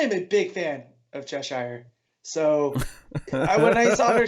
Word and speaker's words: Cheshire: bra and again yeah both of you guys pronounce it Cheshire it's Cheshire and if she's a recurring